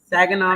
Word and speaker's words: Saginaw: Saginaw, Michigan.